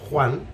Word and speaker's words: Juan: person can be called juan juan that's the khota the spanish quota the most difficult phoneme to pronounce in spanish okay in south america they say a little bit softer they say juan juan juan all right